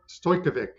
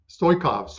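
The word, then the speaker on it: Stoichkov: The last time Bulgaria beat Italy, Risto Stojkovic, if I pronounce that right. Stoikov, Yeah.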